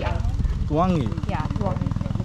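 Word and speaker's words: Tluangi: A N G I Tuangi yeah Tuangi there's an L so you have to Tuang Tuangi Tuangi but a little bit faster.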